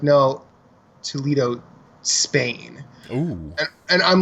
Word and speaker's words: Toledo: used to live in Ohio he's like no Toledo Spain and I'm like what and he had and he's like it's actually pronounced Toledo and I'm like oh well you should have